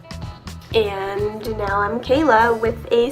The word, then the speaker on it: Cayla: was a Kayla Lilly anyway so people were pronouncing it Paula and um they didn't want that so they added a Y and now I'm Kayla with a C so what does your name